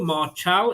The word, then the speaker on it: Marchal: me uh marchal uh m-a-r-c-h-a-l martial is how I'm pronouncing that and cash a